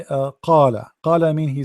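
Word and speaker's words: قال: But if you say, like, you want to say qala, qala mean he said, someone said. So if you say to someone qala, they understand that you meant qala, but this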